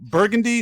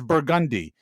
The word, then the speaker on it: Burgundy: We take all the French, we take all your French shit, and then we just Southernize that, and we just so Burgundy, no, that's Burgundy, and Calliope, no, that's Calliope.